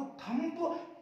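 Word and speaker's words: thumb: एक चीज सीख लो कि जिस वर्ड में एम के बाद में बी आ जाए ना, इस बी को साइलेंट करते हैं, एम के बाद बी,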